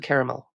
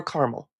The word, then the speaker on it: caramel: taste caramel yes and salted caramel or caramel we can pronounce it both ways so you don't actually